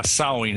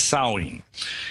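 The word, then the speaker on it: Samhain: i think was called salween is that the correct uh the correct pronunciation yeah in in the celtic british isles yeah sowing it's spelled s-a-m-h-a-i-n but we say it as sowing and yeah that's the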